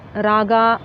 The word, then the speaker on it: Raga: Similarly, Rama is pronounced as Ram, Krishna as Krishna, Raga as Rag, Yoga as Yog.